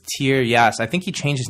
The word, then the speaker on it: Tieryas: This is written, incidentally, by an author by the name of Peter Tiaras. Although I think he pronounces it differently. It's Tieras.